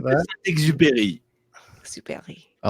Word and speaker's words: Saint-Exupéry: I was just trying to copy the Wikipedia address for Antoine de Saint-Exupéry. Saint-Exupéry. Exupéry. I don't know. Josene's going to have to send in the actual pronunciation.